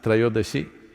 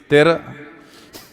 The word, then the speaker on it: Trayodashi: It is Dhanavantari's Trayodashi. North Indian people must connect, don't go on clipping away one syllable and come Dhanavantari becomes Dhan, Trayodashi becomes Tera. Don't keep clipping it away.